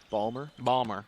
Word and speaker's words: Baltimore: Balmer. Yeah, there's not 3 syllables. They don't usually Baltimore. get the T out of there at all.